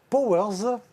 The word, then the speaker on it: PowerZ: Vous êtes le fondateur de Powers avec un Z. Powers avec un Z, et vous l'avez bien prononcé.